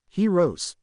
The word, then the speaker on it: Choiros: Heroes, is how it's pronounced if anyone's wondering.